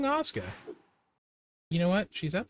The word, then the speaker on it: Asuka: It's like Asuka, but it's pronounced Assuka. Not wrong. Osuka.